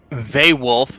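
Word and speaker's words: vaewlf: to look it up a vay wolf is spelled v AE W LF a wild thing I'm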